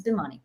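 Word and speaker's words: Bhimani: is funny funnily uh actually a lot of people think my name is pronounced that way but it's not it's bimani so boomani um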